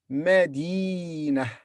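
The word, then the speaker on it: مدينة: Madinah, Madinah, Madinah, city.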